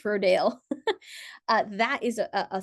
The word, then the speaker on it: Rodale: Um, Rodal's R O D A L E S. Rodell or Rodale. Rodell. I always pronounced it Rodell, but maybe it's Roddale.